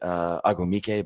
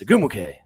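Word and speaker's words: Ogwumike: And I always want to say her name wrong because I want to say Agumike, but it's not. It's Agumuke.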